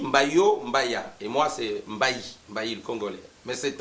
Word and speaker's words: Mbayi: On trouve les Mbaï au Sénégal, Mbaï, prononcé des fois Mbaïé, et puis comme l'occidental essaye d'écrire ce qu'il entend, bon voilà, il y a aussi ce nom-là, mais chez nous, au Congo, en RDC, c'est Mbaï, Mbayo, Mbaya, et moi